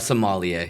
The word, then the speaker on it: sommelier: A sommelier, yeah. Sommelier, it's like the connoisseur, like where you can taste everything. And he was saying that Jesus is the sommelier of the kingdom, of God's kingdom, where he knows he is everything.